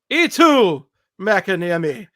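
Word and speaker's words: Eetu Mäkiniemi: Eetu Makiniemi. Is that correct? I believe that's right. Eetu Makiniemi.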